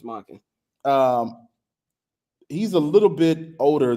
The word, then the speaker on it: Monken: Todd Monken, yeah, offensive how do I pronounce that? Todd Monken. It's Monken.